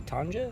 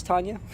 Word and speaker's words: Tanya: Is it actually Tanja? And she's like, no, it's Tanya.